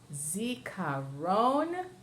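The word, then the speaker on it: זיכרון: Zikaron, and that's the last syllable.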